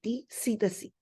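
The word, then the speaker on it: psittaci: spelling it is double t and it is pronounced as silent cac so the main house are Birds and humans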